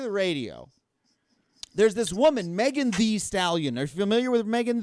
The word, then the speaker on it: Megan Thee Stallion: That's- First of all, I love her because she's like, I'm not Megan the Stallion. I'm Megan Thee Stallion. She adds an extra E, so you got to pronounce it like that.